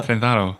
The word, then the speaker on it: Trenzado: The D is so soft that you can barely... It's subtle. Experience it. Like the B in subtle. Yeah. Trenzado.